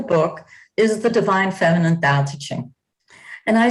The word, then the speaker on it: Tao Te Ching: So the name of the book is The Divine Feminine Tao Te Ching. And I say Tao Te Ching. The D and the T in Chinese are between our D and T in most Western languages.